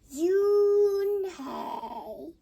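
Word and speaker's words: Unhei: turned to joey she knocked slowly yes it's pronounced yoon hey and it means grace mr kim added yoon hey she said swelling this time perfectly i made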